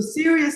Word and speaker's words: Sirius: It rhymes like a seriousness, but it's actually flower. So Sirius is a particular type of flower that only blooms at night.